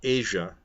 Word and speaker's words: Asia: jun 19 2009 now her name asea is pronounced Asia norine is the wife of a 50 year old name mr.